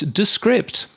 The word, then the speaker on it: Descript: show this this month it's descript uh so so we've been saying it wrong all these years yes um yes they